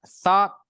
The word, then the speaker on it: thought: Ingat, thought. Pengucapannya ya. Thought. GH-nya hilang. Thought.